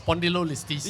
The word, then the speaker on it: spondylolisthesis: the medical term, correct me if I'm wrong, spondylolisthesis. Am I saying it right, or am I butchering it? It's spondylolisthesis.